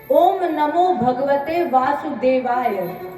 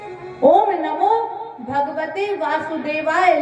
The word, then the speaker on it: ओम नमो भगवते वासुदेवाय: शुद्ध उच्चारण इस मंत्र का है ओम नमो भगवते वासुदेवाय। ये शुद्ध मंत्र है, ओम नमो भगवते वासुदेवाय।